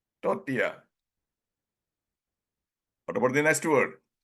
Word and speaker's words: tortilla: used to pronounce initially tortilla no the L is silent and it should be pronounced tortia should be pronounced Toria what about the next